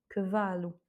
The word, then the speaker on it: cavalo: voyelles qui se suivent, donc c'est l'avant-dernière voyelle du mot qui prend l'accent tonique. Cavalo.